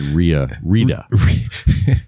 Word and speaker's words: Santa Rita: I said Rita. Santa Rita. Lubbock, you don't pronounce the T. That's right. You just go R-I-A.